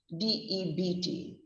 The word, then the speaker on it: debt: t d b t is another of those english words with a silent letter pronounce it as if the letter b wasn't there ever so you should say